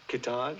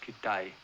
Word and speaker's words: Kitaj: Kitaj. No, it's pronounced Kitai.